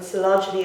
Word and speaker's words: Coelogyne: So Coelogyne is what this orchid is called, and Coelogyne is the way I pronounce it.